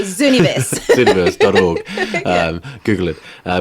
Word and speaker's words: Zooniverse: Zoo as in the zoo and niverse without the U, so Zooniverse.